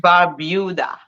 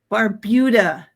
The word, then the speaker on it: Barbuda: I always pronounce it Yes, wrong. I'm sorry. Antigua and Barbuda. Barbuda, not Barbuda.